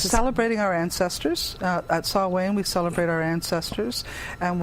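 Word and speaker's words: Samhain: know is Halloween in do you spell it Sam Hayne yes that's exactly how you spell it say it's saw Wayne sne what's with that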